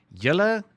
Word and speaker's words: julle: Julle, directly addressing a group of people, pronounced like that.